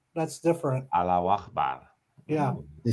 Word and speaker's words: Allahu Akbar: No, salam No, praise Allah is Allah Akbar. That's different. Allahu Akbar. Yeah. You say it 3 I'm a times. good pronunciation, aren't I?